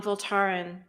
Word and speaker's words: Voltaren: In Norwegian, we put the pressure on the last syllable on Voltaren with a long E.